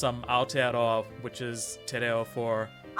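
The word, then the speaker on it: Aotearoa: no way oh listen um Americans don't know all 50 states yeah that's fair to um to answer your question it's um Al which is for say that again to me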